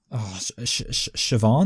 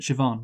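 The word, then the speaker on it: Siobhan: is the sister called sioban that's it sioban but it's but it's spelled really Wordly sorry yes yeah I think like uh I know in Russian be are pronounced V's so so sioban rejects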